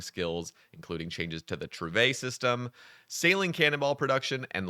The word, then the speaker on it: Trouvaille: Yes, this word is actually pronounced Trouvaille. I've been calling it Trove for years, and I did not want to butcher this title. So, it's Yeah, it's Trouvaille, guys.